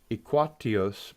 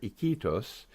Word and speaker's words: Iquitos: Okay, I will take the next one here, which is near Iquitos, Peru. Iquitos? Iquitos. Iquitos, of Yeah, course. you That pronounce the sounds I.